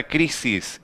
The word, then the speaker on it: crisis: Porque a maior intensidade na pronunciação da palavra está nesta penúltima sílaba, não está na última sílaba, singular e plural fica igual.